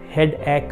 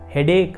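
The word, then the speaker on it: headache: ನನಗೆ ತಲೆನೋವು ಅಂತಂದ್ರೆ ಏನು, ಈಗ ಹೆಡ್ ಆ್ಯಕ್ ಅಂತಂದಿದೆ, ಅದನ್ನು ನಾನು ಏನು ಮಾಡ್ತಾ ಇದ್ದೆ ಅಂತಂದರೆ ಹೆಡ್ ಆ್ಯಕ್ ಅಂತಂದು ನಾನು ಉಚ್ಚಾರಣೆ ಮಾಡ್ತಾ ಇದ್ದೆ. ಬಟ್ ಆ್ಯಕ್ಚುಲಿ ಅದೇನು ಗೊತ್ತಾ, ಹೆಡೇಕ್ ಅಂತಂದು ಉಚ್ಚಾರಣೆ ಮಾಡಬೇಕು.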